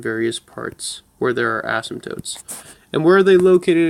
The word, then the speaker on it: asymptotes: kind of gonna indicate asymptotes a s only one s and that I saw where you were going with that only one s and then the silent P the asymptotes oh wait there's no H in it mess myself up with the silent P there we go a s my PT s mt o te i believe okay check me on that it could be wrong but asymptotes this is